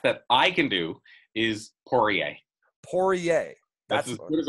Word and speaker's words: Poirier: So you have the R in the middle, but it's Poirier, right? Poirier.